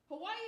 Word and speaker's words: Hawaii: So because W's are pronounced V's in the Hawaiian language, Hawaii is supposed to be pronounced Hawaii.